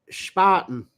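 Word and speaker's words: Spaten: pronounce German beers and apparently it's Paulina and Spartan Spartan oh she said I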